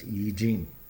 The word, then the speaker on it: I Ching: And he goes, that was the I Ching, the I Ching, pronounced I Ching.